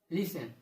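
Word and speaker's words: listen: Watch, often, सॉफन, Hesson, लिसन। देखा आप लोगों ने, यानी जब टी के बाद ईएन और सीएच आता है तब टी का उच्चारण हम नहीं करते हैं। टी साइलेंट लेटर होता है।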